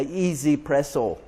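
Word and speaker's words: 1Zpresso: This is called a Easy Presso. It's spelled 1Z Presso, and this one has 200 settings on it.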